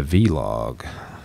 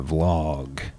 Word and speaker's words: vlog: are other examples like I was calling it a V log but everyone else called the vlog but there it's like there's a bunch of people call it both but like some people be like dude I was just gonna let you roll with that but it's really called a vlog ya mess and I'm